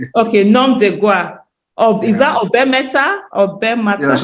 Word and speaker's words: nom de guerre: Get me pronounce that part. It's nom de guerre. Okay, nom de guerre.